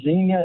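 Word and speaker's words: Xenia: because of Zeno oh x n i a Zena is how you pronounce it spelled with an X that's why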